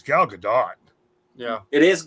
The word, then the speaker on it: Gal Gadot: it's everybody calls her Gal Gadot but it's Gal Gadot yeah it is not it is she's Israeli she's not French yeah that's what's that's